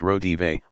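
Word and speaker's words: Raudive: It Belongs to the Cucumbers was inspired when William Reed Breakthrough, a 1971 book by Drive Constantin Rodive, pronounced Rodive, about the mysterious electronic voice phenomenon, EVP, Voices of the Departed, picked up from the beyond, on microphones recording silence.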